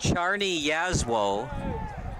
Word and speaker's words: Czarni Jasło: And according to Recruit Links, it's pronounced Czarni Jasło would be my number 1 star.